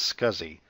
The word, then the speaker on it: SCSI: replaced by SCSI drives often pronounced as scuzzy scuzzy allowed more devices per